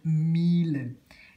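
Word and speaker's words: Miele: la pronunciate sicuramente viene però la pronuncia tedesca di questa marca che è tedesca è famosissimo storica e mille si dice mille all'ora mille si vanta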